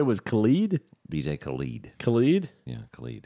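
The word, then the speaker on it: Khaled: his name Khalid Khalid Khalid rhymes with salad she had had a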